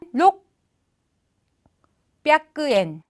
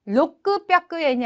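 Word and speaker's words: 六百円: 그래서 로크, 샤쿠엔 하면 좋겠는데 쿠 발음이 작은 쯔로 바뀌면서 발음이 또 달라집니다. 자, 600에는 록, 뼈크엔, 로크 뼈크엔이 아니라 록, 뼈크엔.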